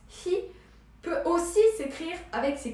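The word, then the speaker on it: 火: De manière abrégée, c'est-à-dire si on veut le retrouver en tant que composant, eh bien, le feu, qui se prononce hi, peut aussi s'écrire avec ces 4 petites gouttes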